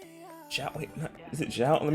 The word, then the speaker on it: Xiao: Zhao, wait, is it Zhao? Let me see. Let me make sure. Let me just see. Okay, I said it right. Xiao.